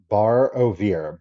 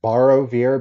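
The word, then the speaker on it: Barovier: we are are oh I'm gonna mispronounce this poor person's last name bar ovir borrow vir b-a-r-o-b-i-e-r a bar ovir is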